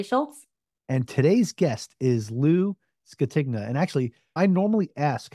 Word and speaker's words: Lou Scatigna: your co-host Schultz and today's guest is Lou tigna and actually I normally ask how to pronounce a name before we start the episode